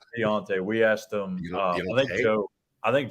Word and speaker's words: D'Onta: We're afraid we're saying it wrong. Please pronounce it for us so I can take it back to the crew. It's Deontay.